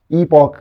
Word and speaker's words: epoch: ये लफ्ज़ हम ईपॉक आजकल कहते हैं, EPOCH। पुराने दौर में हम एपिक ही पढ़ते थे, लेकिन ये आपको पता है कि स्पेल अलहदा है इसमें। वहाँ पर प्रोनाउंसिएशन जो है उनकी ब्रिटेन और है और यूनाइटेड स्टेट्स की और है, तो आजकल इसको हम ईपॉक कहते हैं।